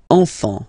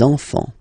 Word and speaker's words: enfants: same pronunciation here, enfant, don't pronounce the T, you don't pronounce the S, enfant, okay, and now